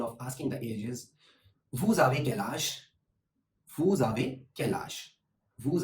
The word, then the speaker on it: vous avez quel âge: And the formal version of asking the age is vous avez quel âge?